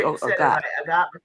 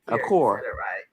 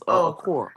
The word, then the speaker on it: Okor: We always say Okot. Okor. Right now, it's about Medina's last name. It's Okor.